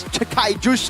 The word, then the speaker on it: Sky Juice: Sky Juice, by the way, is apparently how you pronounce this Sky Juice name.